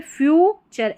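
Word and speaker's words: future: इन द फ्यूचर, ठीक है, फ्यूचर, FU को फ्यू और TURE जब भी आएगा इसको चर करके प्रोनाउंस करना है, चर।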